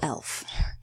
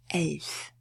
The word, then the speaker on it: elf: Now we have a little elf. And it's not "elf" because all German Ls are pronounced soft. So, elf.